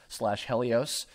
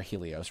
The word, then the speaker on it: Helios: I finished working on Sailor Moon as the part of Pegasus / Helios, or Helios rather. We established that was the pronunciation.